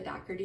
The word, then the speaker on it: Dougherty: It's Alicia with the Dougherty Dozen and this.